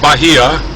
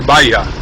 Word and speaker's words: Bahia: I've heard people say Bahia and in Spanish language sorry in in Spanish language the H is silent generally and then J is pronounced as an H so Bahia is really Baya B a pronounced b